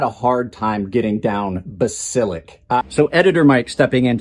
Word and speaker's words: Basilisk: I had a hard time getting down Basilisk. So editor Mike stepping in to tell you, yes, I mispronounced it in the outro, even with all that work. It is not Basilisk, it's Basilisk. It's a mythological creature.